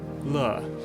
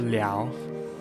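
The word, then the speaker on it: 了: Same with Le or Liao. It's the same thing.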